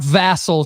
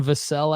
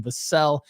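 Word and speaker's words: Vassell: you can make money Devon vasel uh not vassel Chad Devon vasel I believe is how you say it um put up 25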